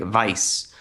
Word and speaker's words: Weiss: Uh there's a specific character her name is Weiss and people are like well the correct the correct German pronunciation would be like Vice.